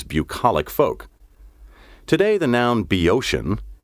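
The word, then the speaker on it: Boeotian: of letters hesiod pinder and plutarch were native be oceans athenian city slickers reveled in reviling these bucolic folk today the noun be ocean spelled capital b o e o t i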